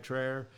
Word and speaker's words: Tryer: named Scott theer and I was so afraid Sarah tryer that I was going to pronounce it theer so Sarah I'm glad I got your name right tryer and uh we became